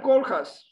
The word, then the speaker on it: Koolhaas: Rem Koolhaas. Koolhaas, not Koolhaas. I asked once a stewardess in a plane how to pronounce correctly his name, and she said something like this, Koolhaas, not Koolhaas.